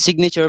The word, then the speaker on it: signature: sign my silent b and signature pronounce the g please remember say to